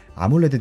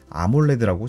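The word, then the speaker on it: AMOLED: 시리즈의 디스플레이를 맡고 있는 아몰레드 디스플레이였습니다. 아몰레드 디스플레이는 AM, OLED를 붙여서 발음 불리는 대로 네이밍을 한 삼성의 OLED 디스플레이 상표명입니다.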